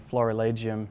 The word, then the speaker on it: florilegium: What is a Florilegium? So literally the Latin term Florilegium, or in a more classical pronunciation, Florilegium, is something that we call a gathering of flowers.